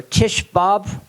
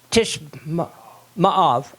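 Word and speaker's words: Tisha B'Av: Tishbab? Tishma'av, okay.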